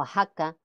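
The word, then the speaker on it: Oaxaca: varios topónimos americanos Como por ejemplo México o ajaca Texas con sus respectivos derivados mexicano o Aja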